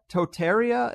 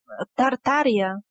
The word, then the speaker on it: Tartaria: been removed from history entirely is one called Tartaria, if I'm pronouncing it right, that is somewhere in modern Russia? Tartaria.